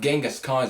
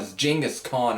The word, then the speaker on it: Genghis Khan: yes that's how you act as opposed to pronounce the name it's not Genghis Khan jingus khan and it's kind of back to that track